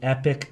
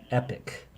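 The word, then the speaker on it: Epoch: newspaper is called the epic times in epic is spelled e p o c h epic the epic times and i read about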